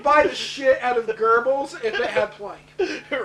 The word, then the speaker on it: Goebbels: It looks like Goebbels, Ger- but it's pronounced Goebbels.